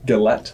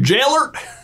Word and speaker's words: Gellert: Sure, I said his name wrong. Galette, whatever. Gellert? Gellert. Gellert! You Gellert?